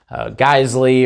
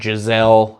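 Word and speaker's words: Geissele: Geisley, or for those of you that can't pronounce it, Giselle, I hear that often enough.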